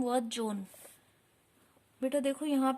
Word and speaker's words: Juan: Students, today we will read our next chapter, John Bobo's Sport. Okay, so let's start. Now read this story and answer the questions that follow. John Bobo lived in Puerto Rico. Well, his name was John.